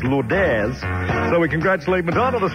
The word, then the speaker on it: Lourdes: night called Lord Aires spelled exactly the same as Lourdes actually but we understand it's to pronounce Lord Aires so we congratulate McDonald